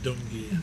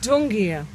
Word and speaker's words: Gumbaynggiirr: Yeah, Gumbaynggiirr. Gumbaynggiirr.